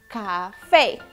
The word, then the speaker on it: café: Esta sílaba tiene una rayita de acento sobre la E. Recordemos que eso significa que debemos pronunciarla más fuerte. Así. Café.